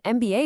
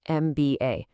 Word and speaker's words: MBA: An MBA is a great one. You say the letters right. MBA. That first sound m starts with a vowel sound.